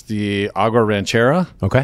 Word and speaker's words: Ranchera: It's the Agua Ranchera. Okay. Which I got scolded on how to pronounce it. Uh, I said Ranchero and it with an A.